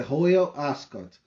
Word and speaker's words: Royal Ascot: É, se escreve Royal Ascot, mas é Royal Ascot.